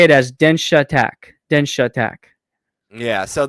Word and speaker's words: Densha: So it's actually pronounced. You can say Densha attack Densha. because Densha is train in Japanese.